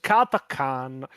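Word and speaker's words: Catachan: It is technically pronounced Katakan. Hell will freeze before I pronounce it Katakan. Katachan is actually a lot more lot more badass.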